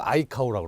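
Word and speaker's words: ICAO: 2013년 이후에 국제 민간은거 아이카오라고 합니다. 이카오라고도 발음하기도 하는데요.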